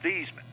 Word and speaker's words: Theismann: and he said Joe how do you pronounce your last name I said it's theeman he said no no it's not it's thyman I said no it's not it's thieman he said no really it's thyman I said well give